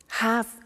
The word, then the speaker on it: have to: pronunciation I have to notice I don't say V I say s have half it becomes have to have the two becomes in pronunciation have to have to ok so I have